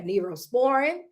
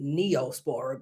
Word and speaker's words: Neosporin: That's why they have neurosporin. That's why they have um it's actually neosporin, but you y'all know how I pronunciate words.